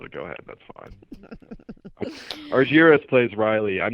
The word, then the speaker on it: Argiris: you pronounce it again i said argires that's perfect awesome i know it's not often that you get people that can pronounce it right we had a lengthy